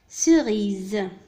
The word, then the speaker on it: cerise: le S هنا نطق Z. لماذا؟ لأنه entre deux voyelles. d'accord؟ بين حرفين متحركين. cerise.